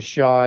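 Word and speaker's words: Xia: And of course, Ji Pin comes from the Shaw dynasty. That's spelled X I A.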